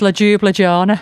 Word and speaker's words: Ljubljana: Ljubljana. Ljubljana. Yeah. It's in Slovenia. Ah, yeah. But the most common pronunciation is ljubljana.